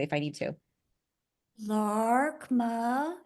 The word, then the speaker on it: Laarkmaa: if I need to LMA is how they say it in English it's LMA l a a r k m AA LMA but awesome fantastic and